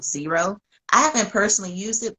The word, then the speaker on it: Xero: of women that use Zero and they prefer it over QuickBooks. And it's spelled Zero. I'm sorry, Xero.